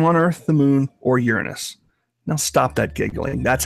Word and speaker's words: Uranus: Physics works the same on Earth, the moon, or Uranus. Now stop that giggling. That's how you pronounce it.